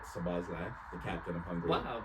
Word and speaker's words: Szoboszlai: Hungary, they got Szoboszlai. That's how you pronounce it, by the way, Teddy. I know you. Before you butcher it, it's Dominic Szoboszlai, the captain of Hungary.